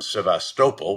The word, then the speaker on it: Sevastopol: They've already forced the fleet to displace from Sevastopol, which is how it's pronounced, I've learned in my two trips to